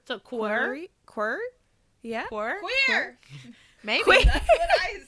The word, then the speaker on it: QWER: QWER, like a QWERTY keyboard, but like the T without the T. So like QWER. So QWER. Yeah. Queer.